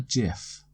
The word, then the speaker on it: GIF: it has to be gif yeah I know that the guy that invented gifts said they were to be pronounced GIF but then it should have started with the J in my opinion so uh it's a